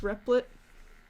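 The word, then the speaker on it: Replit: e PL dot I t it's stands for repli'd or it's pronounced repli'd and it's gonna take you to this webpage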